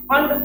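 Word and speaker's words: Pfund: क्या बोलते हैं इसको हम फंड सीरीज बोलते हैं प यहां पे साइलेंट होता है क्या बोलते हैं कड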